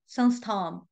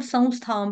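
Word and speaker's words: संस्थाम्: ने लिया था मत संस्थाम शब्द, मत संस्थाम, या इसको संस्कृत में हम संस्थाम पढ़ेंगे, क्योंकि जो बिंदी है उसका उच्चारण के बाद स आ रहा है, तो संस पढ़ेंगे, संस्थाम।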